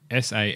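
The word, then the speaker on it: Sanne: of background on her so sa backa so s a n n e sa that that's that's a pronunciation pronunciation with it so she's 19 years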